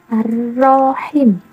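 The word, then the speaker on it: الرحيم: Cara membacanya boleh dipanjangkan sampai 4 harokat atau lebih. Ar-Rahmanir-Rahim, Ar-Rahmanir-Rahim. Kalau kita bingung, tinggal hitung saja. Ar-Rahmanir-Rahim. Panjangnya 4 harokat.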